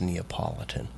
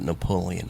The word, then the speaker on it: Neapolitan: Yeah, and I could not pronounce Neapolitan, so I always called it Napoleon ice cream.